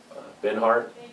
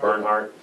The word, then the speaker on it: Bernhardt: And I also sent this to Bill Benhart. Is that how you say it? Bernhardt.